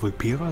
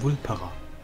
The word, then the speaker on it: Vulpera: Er ist nicht Vulpera, sondern Vulperer. Wir haben es falsch ausgesprochen. Flugpunkt.